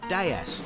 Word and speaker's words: DS: In France, DS is pronounced déesse, which means goddess.